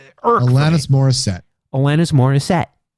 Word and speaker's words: Morissette: out loud Alanis Morissette there's always a an inflection that people put on her surname because I'm set yeah because I say it like Alanis Morissette but then you'll have people like Alanis Morissette like there's something about like the the second syllable in her last name that they have to emphasize and I just I